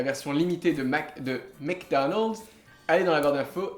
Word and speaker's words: McDonald's: mdonald alors est-ce que est-ce que tu peux dire plus doucement le début mec mec mec mec comme M c'est M McDonald's Donald's McDonald's McDonald's c'est